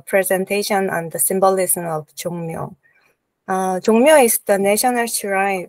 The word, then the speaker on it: Jongmyo: Is it right, Jongmyo Shrine, the right pronunciation or not? Jongmyo Shrine is right. Jongmyo Shrine, yes. Okay.